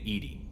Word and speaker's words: EDI: have a specific inquiry why are you named Edy Ed is the phonetic pronunciation of Eed that is an acronym for